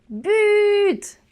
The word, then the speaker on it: but: j'ai une exception diabolique c'est le mot but ah oui normal qu'un sassine et engrais oui ça sur dix ans ouais ça finit en t on prononce le thé et ben oui je